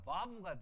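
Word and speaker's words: וו: 이걸 만약에 독일식으로 발음하면 와우가 아니라 바브가 돼야 돼요. 그렇죠? 지금도 히브리 사람들 이거는 우 발음하지 않아요. 부 발음해요. 부. 그러니까 두 번째 베이과는 달리 부이 발음해요. 부. 그러니까 바브가 맞죠. 바브라고 있습니다.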